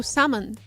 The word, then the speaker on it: salmon: Salmon with the L or no? No. Salmon.